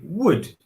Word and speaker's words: would: sound and I say would notice that the L is silent not wood is wood